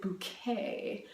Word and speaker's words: Bucket: Her last name is Bucket, but you better pronounce it Bouquet because that just sounds so much better.